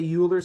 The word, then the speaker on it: Euler: some people say uler some people say Oiler uh I say you're correct that is is the right answer very good excellent um I I pronounce it Oiler but don't feel compelled to do the same um and so essentially